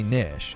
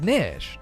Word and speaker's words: niche: looked it up and the preferred pronunciation is actually nish it's not niche like